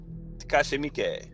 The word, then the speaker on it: Takashi Miike: Yeah, Takashi Miike.